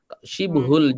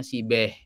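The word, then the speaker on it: شبه: Syibhul jumlah itu maksudnya syibhul jumlah itu orang Indonesia sering nyebutnya sibeh. Sibeh jumlah. Sibeh jumlah itu maksudnya syibhul jumlah. Itu cuma pelafalannya aja.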